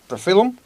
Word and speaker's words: Profilum: Profilum?